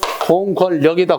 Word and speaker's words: 공권력: 그래서 공권력이다, 공권력이다, 공권 니은에서 뒤에 역이 된다. 그래서 공권력이라고 해야 되는데 자칫 공권력이라고 하는 경우가 있어요. 왜? 발음이 되지요. 공권력 하다 보니까 헷갈려서 공권력이 맞는 줄 안단 말이야.